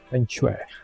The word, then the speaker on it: feng shui: Feng shui. That's how you pronounce it.